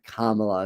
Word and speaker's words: Kamala: to be quite honor Kamala let me keep remembering to pronounce her name correctly Kam Kamala not Kamala Kamala um all right all